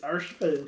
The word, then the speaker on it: Urshifu: I love how I don't pronounce any of the names properly. Next, Urshifu Pat. Is it Urshifu? It's Urshifu.